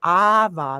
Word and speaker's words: Ava: Ava, like Ava Maria.